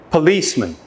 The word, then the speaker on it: policeman: should hear three syllables now try to identify the stress syllable when I pronounce the word again policeman policeman when you're not sure which syllable is stressed try each option the correct stress will become more obvious policeman policeman policeman policeman